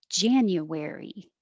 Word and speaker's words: January: January, January. And you could also say January, but it's more common to make that ya, January.